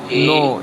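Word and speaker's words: know: Does does he नो। ये जो के लिखा है ना ये ये साइलेंट रहता है।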